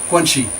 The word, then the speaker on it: guanxi: Chinese wife is the phenomenon of guanxi, pronounced guan-xi. Guanxi means relations, that is, who you know who can help you reach some goal.